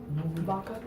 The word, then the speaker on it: Baca: Vaca. Huh? Vaca. Oh, you say it more like with the B.